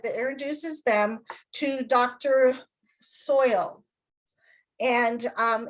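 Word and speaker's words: Soyle: introduces them to dr soil and um it's not spelt like soil it's spelled like s-o-y-l-e which always throws me when i try to say it and dr soil is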